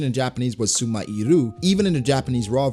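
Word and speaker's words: スマイル: smile is written out in quotations, and the pronunciation in Japanese was sumairu, even in the Japanese raw version, just like how it's used now.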